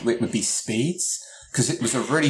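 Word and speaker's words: SPDZ: we have an MPC protocol called speeds which is spelt espied easy for the authors which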